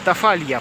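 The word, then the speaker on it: Tafalla: Тафа, Тафалья, правильно, Тафалья произноситься.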